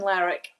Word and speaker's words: Lerwick: She tells me the pronunciation is Lerwick, but I'm going to let her say it so you get the authentic accent.